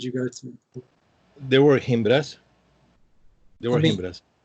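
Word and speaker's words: Gimbra: Himbra with a G. G as in group. G-I, M as in mom, B as in boy, R-A. So you pronounce it as if it's an H. We say Himbra.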